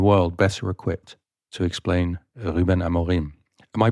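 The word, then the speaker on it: Rúben Amorim: So there is nobody in the world better equipped to explain Ruben Amorim. Am I pronouncing that right, Raquel? You're not doing a bad job, but it's Ruben Amorim. Ruben Amorim.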